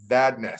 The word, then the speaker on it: Vandais: My name is Vandais. Like you said, it rhymes with badness.